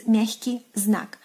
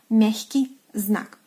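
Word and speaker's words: мягкий знак: And in Russian it is pronounced as miahkyi znak, miahkyi znak.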